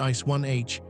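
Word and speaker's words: Ice Ih: Icei pronounced ice 1h is the ordinary ice familiar from everyday experience. The H denotes hexagonal symmetry distinguishing it from the rare ice with cubic symmetry.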